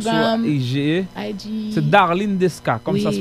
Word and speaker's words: Darline Desca: C'est Darlene Desca, comme oui. Ça se prononce.